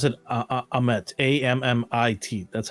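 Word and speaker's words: Ammit: give our best guesses um because they they pronounce it ahmet a-m-m-i-t that's how they pronounced it that that's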